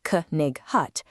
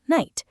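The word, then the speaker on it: knight: If we read every letter out loud, it sounds like k-nig hut, but we simply say night. That K and GH are silent letters.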